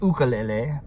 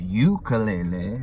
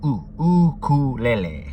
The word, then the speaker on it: ukulele: Pronounced ukulele. The reason it's pronounced u with a u, not ukulele, is because it's Hawaiian and it basically means the jumping flea. So ukulele.